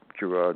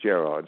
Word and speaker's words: Gerard: So, in England it's pronounced Gerard.